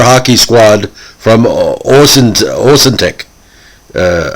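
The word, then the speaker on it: Ahuntsic: squad from uh orson's osintec uh i can never pronounce austin schtick anyway a-h-u-n-t-s-i-c austin thank you now uh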